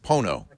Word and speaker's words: Pono: it's pronounced Pono. Pono.